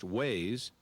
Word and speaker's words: WAIS: wide area information server or WAIS pronounced Waze is a tool that